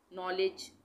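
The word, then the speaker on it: knowledge: नॉलेज, नॉलेज में भी के साइलेंट है, का नॉलेज नहीं बोलेंगे।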